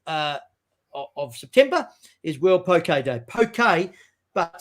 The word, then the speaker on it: poke: actually international poke day but it's not like poke poke it's actually pronounced poke day and poke day is a hawaiian food and